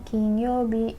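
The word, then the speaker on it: 金曜日: duit PH King Youbi yang dibacanya kinyoubi kinyoubi lalu di terakhir ini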